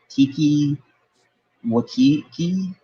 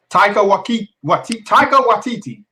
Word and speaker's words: Taika Waititi: Tiki Wakiki? Yeah, the dude doing Thor. Taika Waititi.